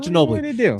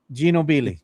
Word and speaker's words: Ginobili: His name is not Genobi. There's nobody in the world named Genobbi. Ginobili.